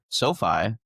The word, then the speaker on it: SoFi: SoFi, yeah.